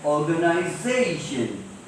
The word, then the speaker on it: organization: This is an organization. See, before TION what is there? ZA. So how do we pronounce it? Organization.